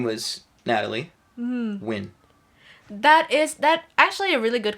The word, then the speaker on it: Nguyen: Yeah, she So was that's pronounced where as the Win.